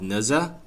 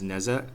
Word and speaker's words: Nezha: new character in this set he is called naza the e is pronounced like more of a uh so i've been pronouncing him wrong in some of the these sentences as neza please forgive me since i am not a